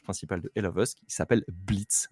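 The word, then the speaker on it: Blitzø: euh notamment notre personnage principal de Elov qui s'appelle Blitz, The O is Silent, comme ils disent bien en version originale.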